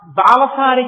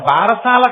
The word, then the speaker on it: బాలసారే: అందుకే ఇప్పటికీ మీరు సంప్రదాయం తెలుసున్న ఇళ్లలో చూడండి, గబగబా తల ఏదో బాలసారి చేస్తుంటారు. బారసాల కాదు, బాలసారే. బాలసారే అంటే బాలునకు ఇస్తున్న సారే, కానుక. దాన్ని బారసాల, భారసాల ఎంత భారమైనా ఎక్కించారు. అసలు దాని ఉచ్చారణ బాలసారే.